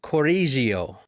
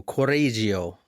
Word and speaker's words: Correggio: so good what part of Italy I can't pronounce it but um corio c o r r e g g i o corio so is there a what city is there